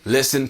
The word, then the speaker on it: listen: But the pronunciation is really listen, not listen.